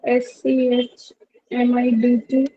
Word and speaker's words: Schmidt: सर ये इसका pronunciation और मतलब क्या होगा? SCH MIDT.